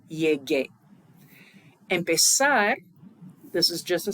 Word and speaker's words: llegué: And so we want to maintain that hard g sound, so yo llegué.